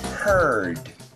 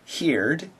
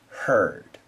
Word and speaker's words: heard: before but once again we do not say heared we say heard once when I was